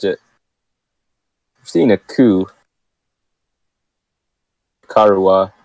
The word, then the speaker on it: Nicaragua: Nicaragua, I think that's how you say it. I was saying Nicaragua, but apparently that's wrong.